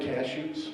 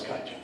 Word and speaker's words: kaiju: As far as the giant monsters are, the giant cashews. Yeah, giant cashews. Am I saying it wrong? No, it's kaiju.